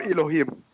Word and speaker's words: Elohim: the same character but it's pronounce it Elo Elo or Elohim Elohim it's the plural but they